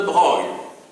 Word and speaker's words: Broglie: Oui, ne vous étonnez pas sur la prononciation, ça s'écrit de Broglie, mais ça se prononce de Broglie. C'est une originalité du vieux français, si vous voulez, du français d'Ancien Régime, où un mot s'écrit d'une certaine manière, mais se prononce d'une autre.